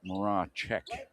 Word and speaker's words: Morosic: from Morosic. And Morosic able to reach back in. Yes, he actually pronounces it Moracek.